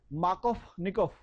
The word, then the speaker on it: Markovnikov: अगर एफ लिखा होता है इसकी जगह पे तो बोलते व, यहाँ पे वो लिखा तो बोलते क्या है? फ। तो इसका करेक्ट प्रोनाउंसिएशन है मार्कोवनिकोव।